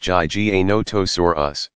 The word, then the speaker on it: Giganotosaurus: have terrorized the planet Giganotosaurus pronounced GG a notice or us was slightly longer at